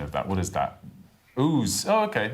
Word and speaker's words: Ouse: God, I should know the pronunciation of that. What is that? Ouse.